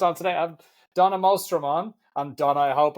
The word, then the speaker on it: Mostrom: I have Donna Mostrom on.